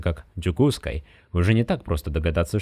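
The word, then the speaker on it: Дьокуускай: Но вот глядя на это слово, которое произносится как «джукускай», уже не так просто догадаться, что это Якутск.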